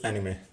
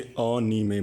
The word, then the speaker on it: anime: तो first of all, what is एनिमे? तो start करने से पहले, ये एनिमे नहीं होता है, इसे अनीमे बोलते हैं। अनीमे, ये 3 सिलेबल्स होते हैं, इन्हें अलग अलग प्रोनाउंस करते हैं, अनीमे।